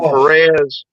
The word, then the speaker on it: Perez: All the way it's Perez.